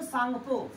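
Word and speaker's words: Tsangpo: रहेगा और यहां पे इसको सांगपो टी एस ए एन जी पी एच ओ सांगपो का स्पेलिंग ऐसे लिखा आएगा बेटा टी से शुरू होगा टी एस ए एन जी पी एच ओ सांगपो ठीक है जैसे ही अब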